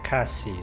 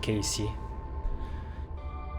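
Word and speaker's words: CASIE: Oh, it's pronounced Cassie, not Casey.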